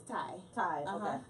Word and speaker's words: Tai: Pronounce Alright. your first name. It's Ty.